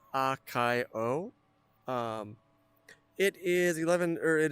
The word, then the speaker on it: Akio: So, I normally pronounce it as Akio.